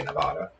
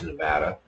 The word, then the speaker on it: Nevada: want to pronounce it they can tell you're not from there if you say Nevada it's Nevada so moved to Nevada for